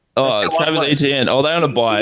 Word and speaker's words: Etienne: I always say his last name wrong. How do you say his last name? Are they a buy? I don't know. Say just like the letters ETN. Oh, Travis Etienne.